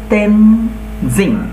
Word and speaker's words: Tenzing: দেখো এখানে কিন্তু টিইএন, এই যে টেন, এটা কিন্তু আমরা ট বলবো না, আমরা বলবো ত, ত উচ্চারণ হবে। তেন, টিটা বড় হাতের হবে অবশ্যই, যেহেতু নাম তেনজিং, জিং, তেনজিং নোরগে।